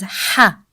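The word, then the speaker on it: ح: The sound of ha comes from the middle part of throat. We don't say it as the English sound ha, as in house. We say it as ha, from the middle throat.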